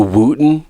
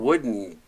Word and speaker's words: Wooden: it for incredibly obvious did you just call it the Wooten classic it's the John Wooden ding dong I don't